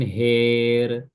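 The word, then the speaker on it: هار: Kemudian har, ya, jurufin har dibaca jurufin her.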